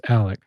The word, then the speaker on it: Alec: I Alec is Alec. It is Alec. Yeah, with a C.